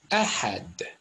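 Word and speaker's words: אחד: Look at this last word here. Aleph in Hebrew. Het, which remember Jews mispronounced today in Israel as Het, and Dalet. What's that say? Ahad. Just like in Arabic. In fact, pronounced exactly the same way.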